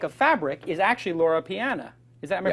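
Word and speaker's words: Loro Piana: other brand I like of fabric is actually Laura Pian is that am I pronouncing that correctly Pian that's right and Laura Pian is basically second only the zenya I think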